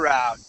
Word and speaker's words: route: You can pronounce that route or route. Either way is fine. In my family, we say route. In other families, they may say route. It just depends, right?